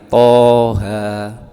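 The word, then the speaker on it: طه: Maka kita harus mempunyai guru, sehingga dibacanya Toha, tidak boleh Toha, juga tidak boleh Toha, tapi bacanya Toha, dimatkan 2 harokat atau 1 alif, Toha.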